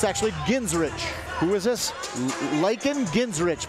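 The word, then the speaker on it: Genrich: had his name officially changed so it's called ginsrich ginsrich yep spell it for me g-e-n-r-i-c-h ginsrich okay so like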